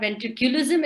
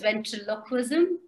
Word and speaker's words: ventriloquism: people mis pronounce it it's not ventricularism it's ventriloquism and what i do